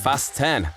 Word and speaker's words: Fast X: He pronounces Fast X as Fast 10, like fasten your seatbelts.